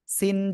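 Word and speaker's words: سين: কি অক্ষর সেটা সিন সিন চার এলিফ টেনে উচ্চারণ করবো সবাই একসাথে জোরে জোরে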